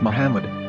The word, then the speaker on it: Muhammad: yehuda's Hebrew English dictionary it is correctly pronounced as Muhammad not mad so how we're going